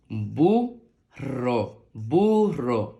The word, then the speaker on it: burro: suena ro Recuerda que cuando hay una doble r se pronuncia como si hubiera una r pero más fuerte ro burro burro muy bien Vamos a